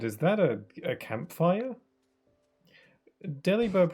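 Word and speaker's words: Delibird: Deli bird pronounced like deliver doesn't sound right with an English accent. Yeah. Deli bird.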